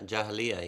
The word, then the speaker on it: Jahiliyyah: the the idea of I don't know how you pronounce the word Jahiliyyah. Is that how you pronounce it? Yeah, Jahiliyyah, yeah.